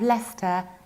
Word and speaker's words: Leicester: We pronounce it like Bister because we need to skip CE. And that's why we have Leicester and Leicestershire.